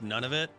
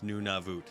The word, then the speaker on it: Nunavut: territories yukon northwest and nunavut which is not actually pronounced none of it it's nunavut noon time ah and then voot rhymes with boo una vu and yeah